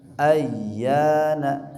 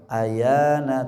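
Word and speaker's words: أيان: Ayyana, sempurnakan tasydidnya, tidak boleh dibaca ayana tapi ayyana.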